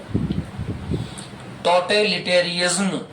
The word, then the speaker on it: totalitarianism: जब स्पीडली बोलते हो उसको तो ये आसानी से बोला जा सकता है, टोटेलिटेरियनिज्म।